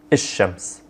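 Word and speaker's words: الشمس: letter here, and then I'm skipping the L sound. I'm not saying il at all, I'm saying ish-shams. Or I'm not saying the L, I'm not pronouncing the L sound, I'm doubling down on that first letter.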